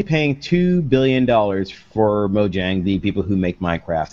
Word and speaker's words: Mojang: ass of the podcast and say it's actually pronounced mojang all right and also it's not official yet